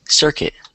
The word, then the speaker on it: circuit: a difficult word but it's pronounced like this circuit circuit yeah so if you